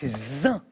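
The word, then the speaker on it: zain: avait 3 syllabes. Oui, mais c'est zin.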